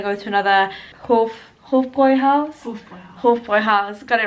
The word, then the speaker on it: Hofbräuhaus: Hofbräuhaus, got it right. I keep pronouncing it as if the umlaut's on the O rather than the A, but Hofbräuhaus.